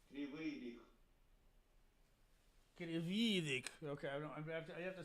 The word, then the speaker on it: Kryvyi Rih: Krividik? Kryvyi Rih. Krividik. Okay, I have to see how that's spelled.